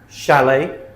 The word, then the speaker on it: chalet: And here are some words that have a ch but shh sound. So they're spelled ch, but we pronounce them shh. Okay. Chef, chalet, machine, brochure, parachute, chaperon, chandelier, crochet, kiche.